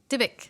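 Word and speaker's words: Dybbuk: Um, all right, so let's move on to Sorry, pronounce the name again. Dibbuk? Dibbuk.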